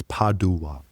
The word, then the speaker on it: Padua: So, is it is it pado or pad? Yeah. Well, in Italian it's padd. Okay. So, and in English it's padua.